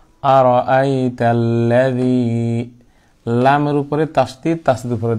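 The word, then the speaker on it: أَرَأَيْتَ الَّذِي: জবর, জবর হচ্ছে হরকত, সুতরাং হরকতের উচ্চারণ তাড়াতাড়ি করতে হবে, আমি যে টানলাম এটা আমার ভুল হয়েছে, কারণ হরকত টানা যাবে না, তাহলে লাদি, আর দি কেন টানলাম, এটা মদের হরফ, আর আই তাল্লাদি, আর জালকে অবশ্যই নরম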